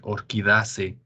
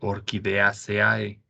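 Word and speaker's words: Orchidaceae: angiospermae por ejemplo o otro ejemplo es orquidace en lugar de orquídeaceae no naces somos como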